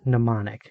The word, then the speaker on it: mnemonic: z same greek group has the word mnemonic the m is silent in her bag the